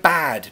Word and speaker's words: bad: Michael asks me to say say bed and bad please very easy bed is where I sleep